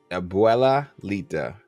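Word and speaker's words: Abuelita: So Miguel and Grandma Abelalita, I believe is how you say it, Garcia. You said it right. Abuela Lita, I think is how you say it.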